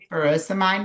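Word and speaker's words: furosemide: Yeah, ferosomite.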